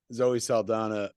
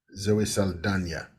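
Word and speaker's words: Zoe Saldaña: she actually does she she stretches she's got the tilde over the end so it is Zoe Saldana is that right yeah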